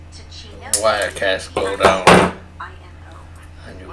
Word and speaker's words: Ticino: It's Tachino. Wirecast go down. And you cannot start it, so. It's on Swift. We will not do that. So, Ticino is a Swiss canton, which means a federal state, I guess.